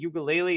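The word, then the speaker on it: Uiagalelei: Washington State has a Heisman candidate at quarterback in Cam Ward, and Oregon State has DJ Ugalele. Is that how you pronounce his last name?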